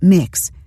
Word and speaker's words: Mx: passports for this purpose and the uk recognizes mx pronounced mix as a gender-neutral title this petition asks the